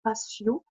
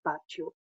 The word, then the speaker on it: patio: El patio, alors nous en France, on a tendance à dire le patio, hein, mais le T en espagnol se prononce toujours T, donc el patio.